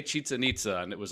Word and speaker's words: Chichen Itza: So we are starting with Chichen Itza.